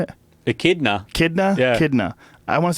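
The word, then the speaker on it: echidna: let's get to that K what is it kitna what is it how you say it a kidna kidna kidna I want to see what a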